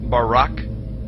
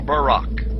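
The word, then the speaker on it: בָּרָק: brightness or a glittering the Hebrew word is Barak so lightning or a flash of light in Hebrew is pronounced Barak or Barack now consider this amazing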